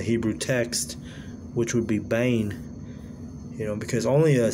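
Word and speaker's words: בן: And in Hebrew it's bain, B-E-N, but it's pronounced bain.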